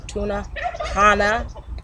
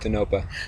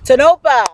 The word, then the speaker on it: Tonopah: He's here doing the label of GMOs, and we are in Tunapana, Arizona. Did I say it right? Tunapana? Tanopa. Tonopah, see?